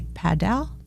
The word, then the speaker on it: padel: Actually, I think the Just like pronunciation paddle. could be padel, but that's Spanish. So here I think we would say paddle.